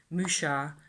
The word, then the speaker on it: Mucha: So this is my pronunciation because I grew up in France to some extent during my high school years, and Mucha, Alphonse Mucha, wasn't French, but he worked in France a lot of the time, and